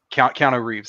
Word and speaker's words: Keanu Reeves: Okay, maybe not a lot, but like I can think of like off the top of my head, like Keanu Reeves, Keanu Reeves.